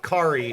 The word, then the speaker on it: Kari: Kari is Digimon. Specifically Hikari. We just removed the first syllable.